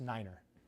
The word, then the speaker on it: nine: All right, you got six, seven, eight, and then you got nine, which is pronounced niner.